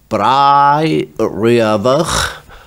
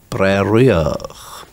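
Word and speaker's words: Bràigh Riabhach: That could be pronounced in different places Brai Riavach or Breriach.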